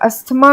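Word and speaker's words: asthma: इसमें H silent है और अस्थमा में टीटीएच साइलेंट है तो ये एस्मा हो गया फिर आइसलैंड नहीं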